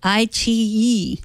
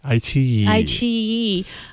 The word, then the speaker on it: iQIYI: iQIYI. iQIYI.